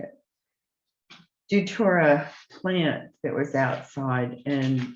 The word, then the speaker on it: Datura: This is Duratia, how do you say it? Datura plant that was outside, and this plant has been used for a number of things.